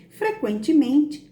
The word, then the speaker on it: frequentemente: Na palavra frequentemente, a vogal U é pronunciada. Por isso, nesse caso, o grupo QU não constitui dígrafo.